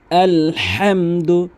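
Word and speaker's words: الحمد: আলহামদু আলহামদু এভাবে আলহামদু।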